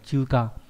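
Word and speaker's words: 中華: Chữ Hán là chữ Trung với chữ Hoa nhé, đọc là chuka, có nghĩa là Trung Quốc.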